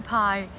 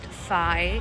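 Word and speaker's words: π: Here's how we actually pronounce the Greek math symbols in Greek. Starting with everyone's favorite, this is not pi. It's never pi.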